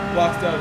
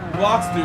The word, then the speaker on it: Blocks dude: Blocks dub. I don't know why I say your name wrong. Blocks dude. It's blocks dude.